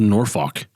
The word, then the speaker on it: Norfolk: it can be and I think it's actually pronounced norfok like n o Fu like nor [ __